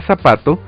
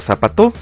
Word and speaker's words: zapato: Por ejemplo, la palabra zapato solo se puede pronunciar así y no zapato o zapató, y tampoco podemos pronunciar brújula o brújula, sino brújula.